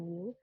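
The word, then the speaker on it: μ: Seperti huruf M ya, bacanya mu.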